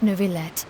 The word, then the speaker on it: Neuvillette: have the absolutely just and honorable Chief Justice Neuvillette, Ah, they're actually pronouncing it right.